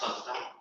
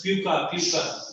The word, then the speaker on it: pakka: Yeah, what's the spelling of pakka? Bricks and cement. So Spelling of P-A-K-K-A. Because last year I used to say P-U-C-C. Some people used to pronounce as puka.